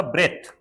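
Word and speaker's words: breath: इसका उच्चारण होगा ब्रेथ, ब्रेथ यानी सांस।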